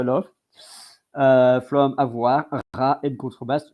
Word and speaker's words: contrebasse: And so the pronunciation in French is Contrebasse.